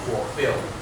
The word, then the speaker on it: fulfill: Uh may I ask you where is the stress for bill? The second the second syllable should be for. Okay. Can we say the words together? Fulfill.